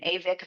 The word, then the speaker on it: ewig: And I was going to name him Avik von Sentry, which meant my eternal guardian, because Avik is the word of eternal in German.